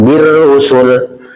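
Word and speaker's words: بالرسل: Itu dibacanya pendek ya Pak, birrusul.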